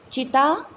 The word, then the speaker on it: चिंता: चिता चिंता। ठीक है, एक बिंदी से देखो, चिता चिंता समान या चिंता चिता समान, कितना फ़र्क है उच्चारण में भी।